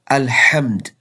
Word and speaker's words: الحمد: Look at the word Alhamd. Pronounced correctly from the middle of throat, it means all praise is for Allah.